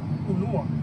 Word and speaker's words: ulua: Ulua.